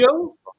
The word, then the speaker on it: DiMaggio: Now John that you say, DiMaggio.